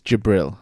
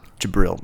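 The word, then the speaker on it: Djibril: gibril or gibril it's jibril jibril all right Lord jibril the D is silent Brian come on you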